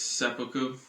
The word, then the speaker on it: seppuku: The thing Aiden is referencing is seppuku. I think that's pronounced correctly.